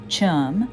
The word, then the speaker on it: chum: and that's no Jive Chum rhymes with thumb poke you in the